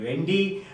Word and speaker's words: Lund: united states in the university of luth pronounced as lundy hagger strand started this